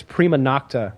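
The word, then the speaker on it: prima nocte: It's I may be pronouncing it slightly wrong, but I think it's prima nocta or something like that.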